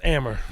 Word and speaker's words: Amer: Special guest, his name is Mo Amer. Did I pronounce that right? It's Amer. Mo Amer.